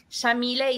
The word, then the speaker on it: Yamile: So, Shamille is an Arabic name pronounced with an Argentine accent. We say the Y like an SH.